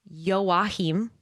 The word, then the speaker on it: Joachim: at the curator saying that his name is pronounced Joachim, and then murders him as well.